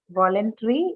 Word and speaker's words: voluntary: mean 100 no no voluntary is what it's an adjective so stressed on the first syllable additionally anything with Ary